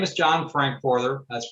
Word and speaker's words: Frankforther: take a look so my name is john frankforther that's pronounced frank further i'm a retired electronic electro mechanical service tech